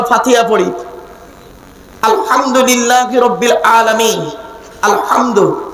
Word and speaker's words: আলহামদু: পড়ি আলহামদুলিল্লাহি রাব্বিল আলামিন আলহামদু এই গলার ভেতর থেকে হে এটা উচ্চারণ করবেন আলহামদু এর মানে হচ্ছে